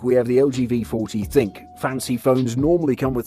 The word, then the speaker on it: ThinQ: it's new high-end v40 thinq or actually pronounced thin q has two selfie cams